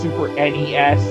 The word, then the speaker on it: SNES: Side note: it is pronounced Super NES. Anyone who says NES or SNES is fucking wrong.